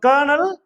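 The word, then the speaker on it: colonel: சோ இது வந்து விதிவிலக்கா நம்ம ஞாபகம் வச்சுக்கணும் அப்ப கர்னல் ஏசியா அப்படின்ற ரெண்டு மட்டும் என்ன செய்யணும் ஞாபகம் வச்சுக்கணும்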